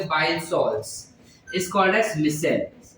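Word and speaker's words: micelle: Salts is कॉल्ड एज मिसेल। You call it एज मिसेल। मिशेल नहीं बोलना, मिसेल चाहिए, ठीक है? मिसाइल भी नहीं बोलना, स्पेलिंग अलग होता है।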